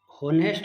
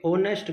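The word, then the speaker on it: honest: तो यहाँ एक सेंटेंस दे रखे है, ही इज़ होनेस्ट ना होके ऑनेस्ट गर्ल बोलेंगे हम, क्योंकि उसका प्रोनाउंसिएशन एच इसमें साइलेंट है, तो यहाँ प्रयोग होगा एन का।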